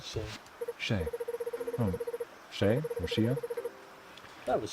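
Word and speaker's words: Shea: Oh, Shay or Shia? That was Shay. Yeah. Well, S-H-E-A. How do you pronounce it?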